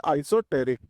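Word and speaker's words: esoteric: इ लिखा है। लेकिन इसका प्रोनाउंस क्या होता है? आइसोटेरिक।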